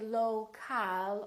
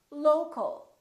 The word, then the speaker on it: local: For example, we stress the first syllable here, low, low, but we don't say local or local. We reduce the second syllable and it becomes the local, local. So you see OL and AL sound exactly the same because they're both reduced syllables.